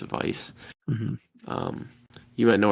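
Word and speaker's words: Weisz: me I actually have Rachel Vice or Rachel wise I don't know how to pronounce I'm pretty sure it's Vice mhm um you went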